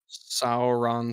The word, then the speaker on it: Sauron: Ron Swanson Ron Swanson so now put saw before Ron Swanson then say his name Sauron Swanson pretty much there there